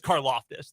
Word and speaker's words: Karlaftis: It is Karlaftis. That is confirmed by the NFL media guide. Like you want to live in a loft. Yeah, like Ann Taylor's place. But I'm going to go with Karlaftis in this game.